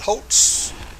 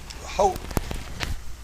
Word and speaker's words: Holt: Is it Holtz? Holt it's it's Holt it's it's spelled Holt Brooks but he didn't come to the forum so I'm not really sure.